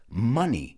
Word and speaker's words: money: is pronouncing the word so many of my students say moni mo like m-o but it's not pronounced like that it's pronounced money money i think of other words that sound the same or other words that rhyme and i think of funny gracioso honey right which is so